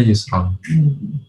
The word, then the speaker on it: Yusron: Ya, kami punya teman yang namanya Yusron. Ya, itu bacanya Yusron.